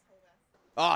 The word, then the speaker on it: Horvath: Yes, Horvath. Oh, Steve Horvath. As we determined last week, it is pronounced the same way that you pronounce laundromat.